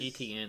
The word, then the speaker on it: Etienne: I think that was Etienne. That's how you pronounce it.